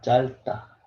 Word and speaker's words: 짧다: So this one is same. First one, you have to read first one. 짧다, 짧다, 짧다. Don't worry about B sound over there. 짧다, 짧다, 짧다.